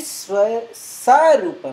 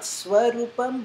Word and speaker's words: sarupam: So the next one is vritti sarupam. Not swarupam, but sarup.